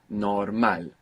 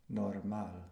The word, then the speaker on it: normal: between normal and normal well the accent the stress at the end normal and what do you mean by the accent well the well where does sound is stressed which vowel it's stress where's it stressed in English on the o good at the beginning right normal normal and in Spanish we're stressing the end right normal normal um